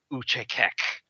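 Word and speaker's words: Achaekek: A monastic assassin order devoted to the assassin god Uchekek. That's how the pronunciation guide says to pronounce it right here on the wiki.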